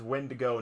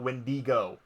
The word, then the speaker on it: wendigo: doesn't go away and the right pronunciation of it is wendo not wendigo you